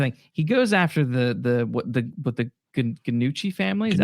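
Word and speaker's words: Gnucci: because here's the thing: he goes after the Ganucci family. Is that how you pronounce? Yeah, Ganucci family, and they have ties to the death of his family.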